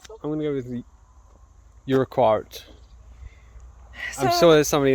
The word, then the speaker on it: Urquhart: I'm going to go with the Urquhart. I'm So- sure there's somebody in the comments just like, Actually, it's pronounced her kit, moron.